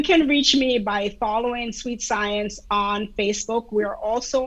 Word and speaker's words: SuiteSciens: it that that is how you say it sweet science i love that spelled a little uniquely so